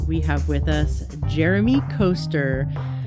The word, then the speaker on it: Koester: have with us Jeremy coaster I asked him how do I pronounce your last name and he's like it rhymes with rollercoaster or no it just sounds like roller coasters right Jeremy coaster so